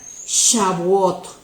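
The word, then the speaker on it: Shavuot: una tercera fiesta que se escribe con s hv1 o t y se pronuncia chabot y esta es llamada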